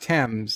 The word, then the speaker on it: Thames: his custom emoji and i do believe it's pronounced tems says cdj thank you